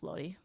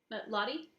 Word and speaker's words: Lottie: after you record yourself, Lodi? Lodi, do you want to unmute yourself and share your thoughts? Lottie? I was saying your name wrong.